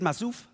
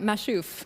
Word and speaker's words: Mashouf: Is it Masouf? You got it, Mashouf.